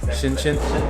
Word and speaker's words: Shenzhen: It is 11:30 Friday night, local time, and I'm in ShenZhen. Is that how you say it? ShenZhen? Yeah. ShenZhen.